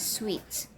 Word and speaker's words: suite: should be pronounced properly suic is pronounced as suit s-u-t-e is pronounced as sweets suit referring to your